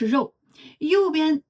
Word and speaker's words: 昜: Now let’s look at “肠” (as in sausage), the “月” on the left also represents meat, and the right side (昜) is pronounced “yáng,” this component “昜,” in ancient times referred to a tube that allowed things to pass through.